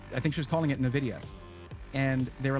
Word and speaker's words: NVIDIA: And it's true, you pronounce it however you want. It's NVIDIA, but yeah.